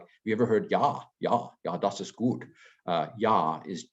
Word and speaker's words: Ja: So like, have you ever heard Ja, das ist gut. Ja is J-A. So J is pronounced with a Y sound in German.